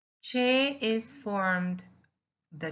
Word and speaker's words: che: Che is formed, the sound of che is formed with two letters. See? And we pronounce it cha, che, chi, cho, and chu. Like the English word challenge.